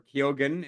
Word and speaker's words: Keoghan: And it stars Barry Keoghan, or Keoghan, as some people pronounce it, and Jacob Elordi, who is, two upcoming actors, really.